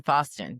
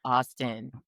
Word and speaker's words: Faustin: It's Fost. Sorry. Austin. Yeah. Did I Did I mispronounce it the first time? Yes. Fix that. Austin. I'm sorry. Austin. Like Austin. Yeah. Yeah. There it is. F and Austin.